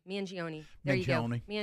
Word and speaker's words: Mangione: Mangione.